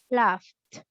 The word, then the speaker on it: laughed: So we have to add T for the pronunciation. So in the past, it's gonna be laughed.